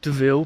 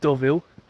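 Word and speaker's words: Deauville: we are here in what I would call DeVille but I think it's probably pronounced doville at least that's what the Google Maps lady says doville um yeah we're going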